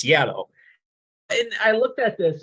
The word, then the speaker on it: Giallo: So I pronounce it Giallo because there's a G in it, but it's Giallo.